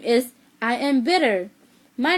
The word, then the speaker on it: Ia: My name is I am bitter. My name is Ia. In Hmong, it's spelled I-A-B.